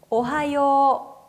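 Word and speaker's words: おはよう: 오하요. 오하요. 네, 끝에 발음에 나와 있는 요라고 하는 발음의 오단과 그리고 아예 마지막에 나와 있는 우단 발음이 합쳐지면서 앞에는 요를 길게 발음해 주셔야 되는데요.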